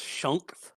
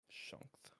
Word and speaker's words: Shunkth: His name is pronounced Shunkth. Shunkth. Yes.